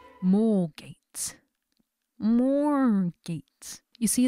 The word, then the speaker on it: Moorgate: tube I arrived at moorgate mall gates more gates you see the Africana in me wants to see more gates because that's how that spelling is pronounced so yes I got